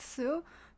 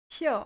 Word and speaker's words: 宿: It's now pronounced Su, Su, but olden times it was pronounced Xiu or Xiu.